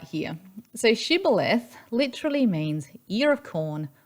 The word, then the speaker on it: Shibboleth: Those in Gilead, they pronounced it Shibboleth, and those in Ephraim, west of the Jordan, they pronounced it as Sibboleth.